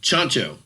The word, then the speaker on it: Tjahjanto: it's uh uh Sean it's a choncho oh cool yeah it's a CH sound with the the T and